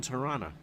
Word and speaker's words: Toronto: But you got to say it right. Sick Children's Hospital in Toronto. You don't say the O.